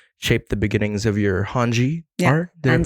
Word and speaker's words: Hanji: And that shaped the beginnings of your Hanji art. Did I pronounce that right?